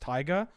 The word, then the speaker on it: Taiga: It's actually pronounced Taiga.